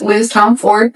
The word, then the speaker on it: Tomforde: It is Liz Tomforde, PSA.